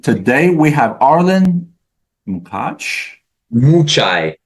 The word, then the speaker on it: Mucaj: Mucaj. Mu as in cow and chai tea. Mucaj. One of the letter is silent.